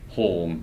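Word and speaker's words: Hulme: So it's spelled like home, but it's actually said home.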